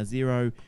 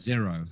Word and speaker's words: Xero: Now, Xero, I guess that's how you pronounce it, X-E-R-O. Xero, I think it's called. Or Dero, whatever you want. Yeah. Zorro? Ooh, Zorro. Zero. I called it Xero.